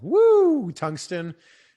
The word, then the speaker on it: Woo Tungsten: It's called Woo Tungsten. That's how we pronounce it.